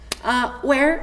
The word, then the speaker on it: where: Where significa onde. Se pronuncia U-E-R. Where. Where.